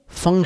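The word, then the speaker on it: feng: नाम है फं स्वे इंग्लिश में एफ ई एन जी एस एच य आई लिखते हैं तो यहां इंडियंस उसको फें शवी उच्चारित करते हैं लेकिन चाइनीज मास्टर्स के लेक्चर में हमने जब उसका उच्चारण सुना खुद मास्टर चनीय लिन और फिर अन्य जो अमेरिकन एक्सपर्ट्स हैं उसके उनके व्याख्यान हमने सुने तो फिर वह सब उसको फं बोलते हैं फें नहीं बोलते फं और यह हवा पानी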